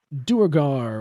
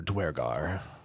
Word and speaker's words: Duergar: Yes, it's Duergar or Dwergar, either pronunciation is acceptable according to the book.